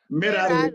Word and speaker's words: Merari: Merari. That is how you. That's how you pronounce it.